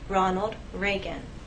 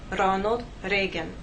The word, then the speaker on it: Ronald Reagan: it will help us with pronunciation the correct pronunciation is President Ronald Reagan we've ours here and here if i take